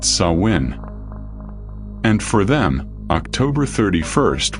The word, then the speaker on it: Samhain: They celebrated Samhain, pronounced Samhain.